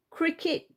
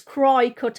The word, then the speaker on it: Cricut: here I've put in cricket Cricut design space see how it's spelled c-r-i-c-u-t so it's cry cut I keep calling it Cricket because it's got if